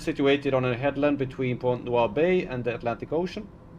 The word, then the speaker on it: Pointe-Noire: It's Pointe-Noire. Alright. Pointe-Noire. Now we're getting into a territory that we might not should get into. We don't have to make this stream X-rated. Pointe-Noire, French pronunciation Pointe-Noire.